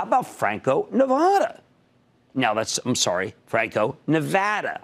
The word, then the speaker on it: Nevada: I got a lot of criticism from Nevadans this week that I should pronounce it like I'm from Philadelphia, which I am. It would be Nevada, you know, if you're 10 from 10th and South or from 3rd and Arch.